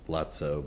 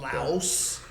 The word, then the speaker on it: Laos: I always want to say lots lotso, but I know that's not Laos.